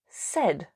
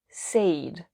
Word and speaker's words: said: say said said remember the pronunciation is said not said tell told told with